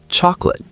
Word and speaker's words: chocolate: Chocolate, 3 syllables become 2, chocolate.